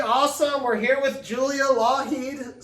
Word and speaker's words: Lougheed: We're here with Julia Lougheed, silent G in that name, not Lockheed like Lockheed Martin, but Lougheed like silent G, like one of her projects.